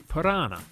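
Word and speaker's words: Paraná: The next longest after the Ob River is the Parana, which sounds like piranha, the dangerous fish.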